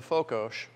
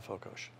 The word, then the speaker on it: fokos: it's called afokosh f-o-k-o-s s is pronounced like sugar in hungarian if you want it